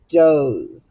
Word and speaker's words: doze: we have the word doze. I dozed off when I took a nap. Doze. And it has a long vowel. You cross out the E because it's silent.